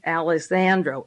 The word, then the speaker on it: Alejandro: Diaz Alejandro, A-L-E-J, the J is silent, Alejandro, A-L-E-J-A-N-D-R-O, from the Council